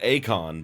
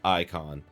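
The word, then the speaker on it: Eikon: I've been pronouncing it Acon, but I think in the game I think they pronounce it as icon.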